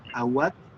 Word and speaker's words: Auatt: Bueno, estamos ahora con la poeta Awad, que es, sí se pronuncia, sí está bien pronunciado el apellido.